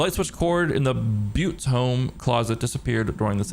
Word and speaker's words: Butte: It's pronounced Butte.